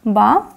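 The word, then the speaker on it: בא: Этот глагол читается как ба.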